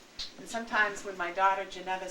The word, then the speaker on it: Geneva: So I have lots of opportunity to proudly say, it's pronounced Geneva.